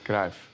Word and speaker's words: Cruyff: It's pronounced Cruyff.